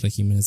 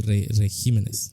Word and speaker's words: regímenes: gabinete particularmente bajo los régimenes de régimenes régimenes por qué lo estoy pronunciando mal por pjos los régimenes pronunci régimen no es que regímenes regimenes regímenes regimenes es que levent regimenes